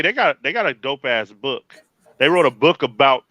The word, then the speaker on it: Beau: How would you say that? Beau? Bo. Bo. DeMayo.